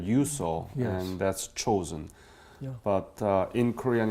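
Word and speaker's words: Chosin: And chosen is Japanese the pronunciation of Chinese character, which we read Changjin, and it was chosen.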